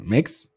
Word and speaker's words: Mx: How do you even pronounce that? Mix Aldrich.